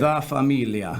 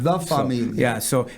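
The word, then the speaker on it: La Famiglia: La Familia. La Familia. But it's spelled with a G for all you people that don't speak Italian, okay?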